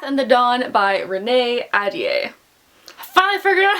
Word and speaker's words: Ahdieh: is The Wrath and the Dawn by Renee Ahdieh.